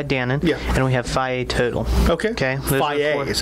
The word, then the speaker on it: Fage: And we have Fage Total. Okay. Okay. Fage, is that how you pronounce it?